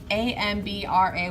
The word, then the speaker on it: hambre: guide on the side amb ra y I'm buddy you don't pronounce the H in Spanish single a MIDI bingo